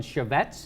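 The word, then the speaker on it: Chaffetz: here's Romney surrogate Utah congressman chevet is how you say his last name and he's lying so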